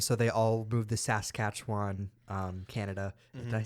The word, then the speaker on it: Saskatchewan: with them and so they all move the SAS katchan um Canada did I say that right Saskatchewan Saskatchewan yeah um Canada and a town called Reina um which is mispronounced all the time uh one of the